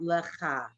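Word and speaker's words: לך: La, is that an H? It's silent. Lacha? Yes. Good girl. So how would you say that? Lecha. If I had to say it, it wouldn't be spelled like that. Everyone look at it. Lecha, and she knew the H was silent.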